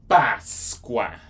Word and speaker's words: Páscoa: Alright, Easter in Portuguese, Páscoa.